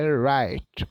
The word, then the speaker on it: write: O verbo escrever é right. O é mudo. O r com som de r. O i com o som de I. O T de T, o E de I.